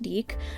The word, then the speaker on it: DIC: Since we're in the topic of toys, I did want to say, I like to call it Dick. I know it's pronounced Deek, but in the Deke